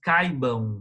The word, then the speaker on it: caibam: E depois fazemos esforço para que todos caibam. O verbo caber aí é interessante que a pronúncia certa e correta é caibam.